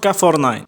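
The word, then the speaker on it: K9999: and the mountain cannon 999 it is pronounced caffornine this one also ran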